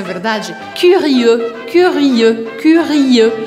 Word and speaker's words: curieux: Curieux. Curieux, curieux. Então, eu te convido a separar sílaba por sílaba para você treinar esse som e ir acelerando au fur et à mesure, aos pouquinhos.